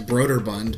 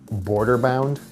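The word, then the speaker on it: Brøderbund: beer mixture brooder Bund all I know is that for most of my life I pronounced it Border Bound because I'm an idiot so B bound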